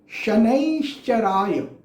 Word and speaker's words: शनैश्चराय: तो ओम शं शनैश्चराय नमः, ओम शं शनैश्चराय नमः। ये इसका सही प्रोनाउंसिएशन है, ये इसका सही उच्चारण है।